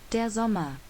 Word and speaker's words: der Sommer: would be der sommer de zoma diazoma so something with german they like to pronounce their s's as like a z so de zoma the elephant van that